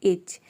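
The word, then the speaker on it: itch: यहां पे साइलेंट है किसी भी वर्ड में अगर टी सी एच अगर एक साथ रहता है तो वहां पे टी जो लेटर है वह साइलेंट रहता है आने वाले वीडियो में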